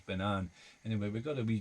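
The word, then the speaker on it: Ben Avon: banan uh spell um avon you would think it would be pronounced uh even but it's uh banan anyway we've got a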